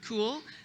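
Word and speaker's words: Kule: for advanced studies mike my daughter corrected my pronunciation of cool been saying cool e for years now and the sustainability council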